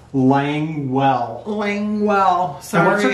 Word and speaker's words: Languell: And Langau is how I pronounced it. Langau. And then she had a note in there. Yes. Languell.